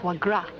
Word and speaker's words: foie gras: stuff it's called pad HD voice cracks daddy foie gras oh yeah yeah that's how they pronounce that dusty he put in some hard-boiled